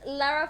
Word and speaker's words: Lara: can I just say la ra? No, I don't think. I've never heard a French person say that. La ra, like that. No. Gosh. Will she get annoyed if I say her name wrong? Probably not. She seems like a very polite lady. She will probably tell you, actually, my name is Lara.